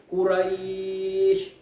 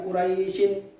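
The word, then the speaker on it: قريش: wakaf karena ada ayat jadi bacanya Quraisy bukan Kuraisin gitu ya nasional saat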